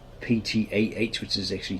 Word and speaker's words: Ptah: because they have like ptah which is actually ta you don't pronounce the p same with ptolemy you